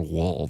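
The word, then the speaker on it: Woll: is his last name Wall or Wool? You know, I think they were pronouncing it more Wool than Wall. but it's since spelled you Wall. well, it's W-O-L-L.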